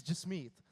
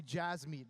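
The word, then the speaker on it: Jasmeet: my I was scared my name is j me and a lot of people say Jazz meat because that's how it's spelled in English so when I was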